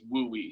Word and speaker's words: WUE: and so um like i say so the wui program it is uh stands for the western undergraduate exchange program but you'll see it abbreviated as w-u-e um and pronounced as we so um let me make sure my slides